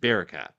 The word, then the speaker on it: Barakat: If you didn't get to see it, definitely do follow team Bar uh I always want to say Barcat. It's the way you pronounce it. Barcat.